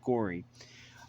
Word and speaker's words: Gorey: I'm thinking that it's pronounced like Corey because it's spelled the same way except with a G. So I think it's pronounced Gory.